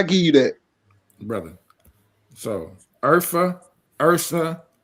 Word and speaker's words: Urfa: So if you want to know where Urfa come from, if you're saying that so the ORHAI, right? It's pronounced as Urfa.